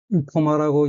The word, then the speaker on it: 生駒: 筆安弘則、筆安弘則、 이코마라고 읽고 한자 연관 일본어를 살펴보면 이키루, 살다 생존하다, 코마, 망하지 말 등이 있습니다.